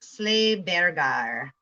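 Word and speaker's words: Sleih Beggey: Pronounced Sleighbergar.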